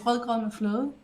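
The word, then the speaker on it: rødgrød med fløde: So how you pronounce it is "regret me flood."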